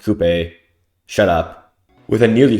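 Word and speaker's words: Coupé: Coop is a former assassin. Yes, I know it's pronounced Coupe.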